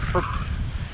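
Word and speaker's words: Höfn: If the weather cooperates, it'll be Hofn, spelled Hofn, H-O-F-N, but pronounced Perp.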